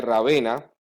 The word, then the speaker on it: Ravenna: es la ciudad de Ravenna, o Rávena, dependiendo si hablas italiano o español, y con cualquiera de las dos pronunciaciones es una ciudad relativamente cercana a Florencia en carro.